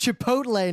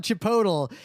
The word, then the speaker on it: Chipotle: in like 2006 who was like guys it's pronounced Chipotle not Chipotle and we had to be like yeah we